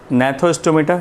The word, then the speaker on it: Gnathostomata: दूसरा है नेथोस्टोमेटा, यहाँ जी साइलेंट होगा।